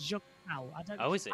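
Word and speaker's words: Junção: you round it into Juncao. Or Jack as Clark, David Croft, by the way, does say it wrong. He says Jun Xiao. It's not. It's Jun Xiao.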